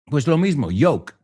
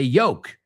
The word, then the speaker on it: yolk: And this is no joke, which is a word that people usually mispronounce and say yoke.